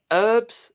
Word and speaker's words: herbs: The way they pronounce herbs, it's got an H in it. Herbs. It's like herbs, but that means something else.